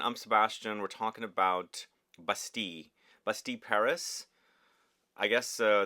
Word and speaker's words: Bastille: look at the name bastil uh that maybe the you know in English you would say that but in French it's basti and again I discovered